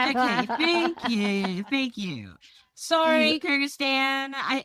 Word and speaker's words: Kyrgyzstan: Kyrgyzstan. Okay, thank you. Sorry, Kyrgyzstan.